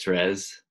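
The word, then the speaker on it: Thérèse: We would pronounce it Therese. Yeah, that's how we say it in French.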